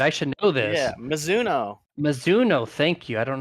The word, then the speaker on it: Mizuno: to second place, the number 45, Toyota driver Meninzo. If I got that sponsor, I always get that one butchered up. Golf brand, I should know this. Yeah, Mizuno.